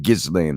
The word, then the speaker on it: Ghislaine: Ghislaine, I think it is, Maxwell, by Virginia Giuffre, who's claimed to be one of the victims of Epstein's sexual assault crimes.